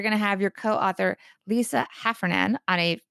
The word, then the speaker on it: Heffernan: have your co-author lisa half run in on a did i say her name correctly I hope Heffernan yes on a future episode